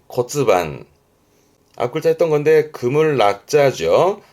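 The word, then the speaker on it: 骨盤: 발음은 코츠반, 코츠반.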